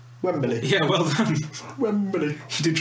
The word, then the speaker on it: Wembley: like that and said you've got an extra syllable in Wembley there Wembley yeah well then she